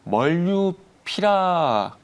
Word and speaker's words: 몰누피라비르: 말씀을 좀 드려볼 건데 하여튼 해외 쪽에서는 멀류피라버라고 하고 있고요. 멀류피라버. 네, 멀류피라버를 하고 있고 우리나라에서는 몰루피라비를 네, 이렇게 얘기를 하고 발음이 있습니다.